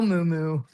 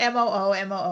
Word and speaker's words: muumuu: They're probably looking up like a cow moo-moo. No, not M O O M O O. M U U M U U. Moo-moo is actually how it's pronounced.